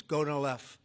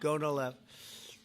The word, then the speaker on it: Gonal-F: So it's Gonal-F. Is that a proper pronunciation? Very Close well enough, said. right? Very well said. Gonal-F.